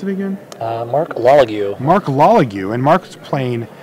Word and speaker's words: Lalague: And he is going to be facing down against, how do you pronounce it again? Marc Lalague.